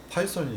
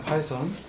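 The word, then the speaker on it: Python: 안에 반드시 들어가고 있는 파이썬이 있습니다. 그래서 파이썬 이 TH 발음이 번데기 발음 일명 그래서 파이썬이라고 하시는 그러면 이제 조금 더 이렇게 그럴듯해 보이는 그런 요소가 있습니다만 한국에서는 그냥 파이썬이라고 하고 있죠.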